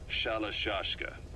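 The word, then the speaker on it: Shalashaska: Someone must have known about that, because somewhere along the line, Shashka got stuck on the end of Sharashka. The guerrillas were using the name amongst themselves, and by the time I got to hearing about it, pronunciation had wound up as Shalashashka. So, half Gulag, half Hero Sword.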